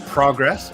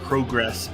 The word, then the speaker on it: Progress: England, a regular in Progress, or I guess Progress. He teams with Ethan Allen, who we saw. Was that last week? I can't remember. I can't believe I just realized that it's pronounced progress.